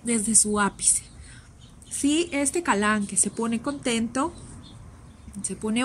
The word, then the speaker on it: Kalanchoe: les llama así kalanchoe pero éste tengo entendido que la pronunciación es porque como es del latín la que no se pronuncia entonces es galán entonces no voy a